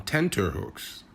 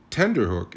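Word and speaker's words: tenterhooks: the correct version of this expression is on tenter hooks these hooks were used to stretch fabrics and that stretching concept was extended to feelings of anxiety or worry tender Hook is just a mispronunciation of the real term pass mustard pardon us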